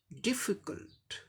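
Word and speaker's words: difficult: First syllable stress mark दिखाया गया है, यानी कि फर्स्ट सिलेबल को जोर दे के प्रोनाउंस करना है। डिफिकल्ट, डिफिकल्ट, डिफिकल्ट, डिफिकल्ट ऐसे बोलना है।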